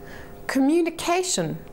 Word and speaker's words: communication: Clearly, with communication, there are 4 syllables. Com, uni, K, shin. If we were to look up this word in a dictionary, we would see that the little indicator mark is before the CA sound.